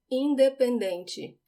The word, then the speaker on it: independente: This word was difficult for me to learn in English because I tended to put the stress on the wrong syllable. In Portuguese, it's on the second to last syllable, dem. Independente.